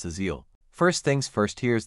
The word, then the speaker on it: Aziel: z first syllable a start with a soft relaxed a sound similar to the first sound in about second syllable C next